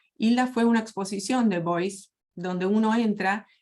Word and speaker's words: Beuys: Beuys. Beuys. Corregime, Karin. ¿Cómo se escribe? ¿Cómo Está, se no te. B larga E-U-Y-S. Boys.